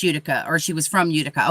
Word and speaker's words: Utica: thought it was pronounced utica or she was from utica okay that makes sense but she pronounces it utica no she pronounces it utica oh she does pronounce it like the town okay gotcha now this